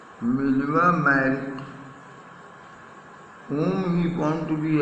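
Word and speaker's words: Mileva Marić: He also felt a special interest, felt me took He also took a special interest in a fellow student, Miliva, pronunciation Miliva Merrick, whom he found to be a clever creature, चतुर प्राणी, clever creature, चतुर प्राणी, और Serbian था.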